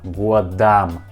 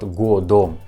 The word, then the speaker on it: годом: Word годом has a letter O. I will show you this letter on your screen. I point at this letter on your screen. And this letter O we pronounce like A. Годам. Годам. Not годом. We pronounce like годам.